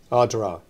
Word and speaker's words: Ardara: It's going to be Adara. Adra. Adra. Yeah. Like the town. Like the town. Yeah. The a in the middle. We write it down but you don't say it. Adra.